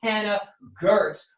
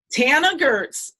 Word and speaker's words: Tana Goertz: a lesson on it it is like Hannah but pronounced and mentioned with a teeth so Tana Gertz welcome to the show